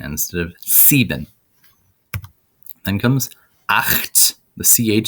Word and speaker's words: acht: Then comes acht. The CH sound in acht is that angry badger noise, the sh that you've heard before. Sh. So it's acht.